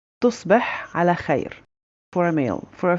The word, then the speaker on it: تصبح على خير: For Fusha, it's very similar with a bit of different in pronunciation. So we'd say تصبح على خير. تصبح على خير for a male.